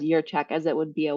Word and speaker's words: Jurchak: your check now yeah so it's a j so everybody says jerchak right but but it's it's yeah pronounced as your check as it would be a why your check excellent yeah well thank